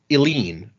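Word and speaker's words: Eline: And our other new backer is at the Misting level, and I want to say this name is pronounced Eileen. Eileen. E-L-I-N-E.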